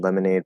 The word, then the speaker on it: lemonade: But what syllable is stressed the most in lemonade, promenade, and colonnade? That. Lemonade, promenade, colonnade. Yeah. So it'd be the first syllable.